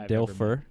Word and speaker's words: Dilfer: Dilfer.